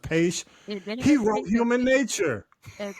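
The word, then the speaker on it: Paich: The musicians, the guy, I mean, the Toto guy, I think his last name is pronounced Page.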